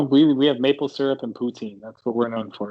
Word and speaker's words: poutine: It's pronounced poutine, which is fries. Am I right, or did I say it wrong? Poutine. Oh, you said it with like poo. Well, you can say poutine.